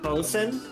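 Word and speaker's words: boatswain: Also, um, actually, it's pronounced Bosen.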